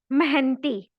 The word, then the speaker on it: मेहनती: मेहनती। रसीला एक मेहनती नौकर है, मेहनती नौकर है। ह का उच्चारण करना है।